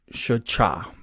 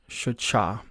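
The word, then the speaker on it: שחה: So if you put short A's in between the glyphs, you get Shachah. Shachah.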